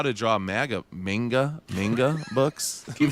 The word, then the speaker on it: manga: He said MAGA 11 times when it's manga, and I screwed up.